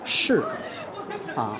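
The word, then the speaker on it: 柿: Chinese people love persimmons because persimmon in Mandarin we pronounce the shi, sounds like things.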